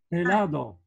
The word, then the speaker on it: helado: H, helado. Muy bien. Allora, entonces, la H es la acá, ¿sí? Y se pronuncia H. Pero la H generalmente es muda, no se pronuncia, ¿sí? Por ejemplo, helado. Hombre.